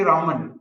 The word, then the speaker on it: Raman: so we say but typically people don't pronounce that e so simply we say Raman as I said you